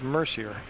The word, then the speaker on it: Mercier: And at the scores table for MSJ will be Danielle Mercier coming in. Now, on her pronunciation, I asked her at the last JV game, and she said it was Mercier.